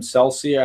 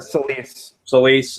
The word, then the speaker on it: Selyse: Celsia? How do you pronounce her? Selyse.